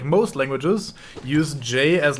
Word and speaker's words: ja: Like, how you would say, like, Ja in German. That's a J. You don't say Ja, you say Ja, because the fucking J is pronounced as a soft sound instead of like with a D in front of it like English does it.